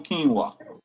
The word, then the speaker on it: quinoa: some Lal still in quinoa Canoa my partner used to say Canoa when he first learned what quinoa was you know black people